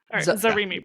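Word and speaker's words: Zarimi: Speaking of Narimi Priest, Zari Priest, sorry, I said my my girl's name wrong.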